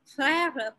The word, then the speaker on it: frère: to pronounce because it comes from the throat. R, frère, for example, beurre, for example, it's not R, it is R. It comes in the air. You don't touch your parts inside while you speak air.